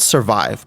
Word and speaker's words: SVRvive: but it's the uh svr so it's called survive but they do kind of like a play on words it's spelled svr v i v and it's uh